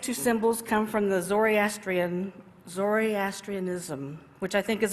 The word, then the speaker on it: Zoroastrian: symbols come from the zoryastrian zoryastrianism which I think is a very funny sounding name and somehow I'd always been putting in an extra syllable in that word okay did anybody watch